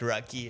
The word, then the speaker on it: Rocci: Et moi, c'est Marianne Rocci. Prononce Rocky. Alright, Rocky, à l'américaine, j'aime beaucoup ça.